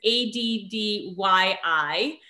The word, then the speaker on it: Addyi: I'll spell it for everyone first. It's ADDYI.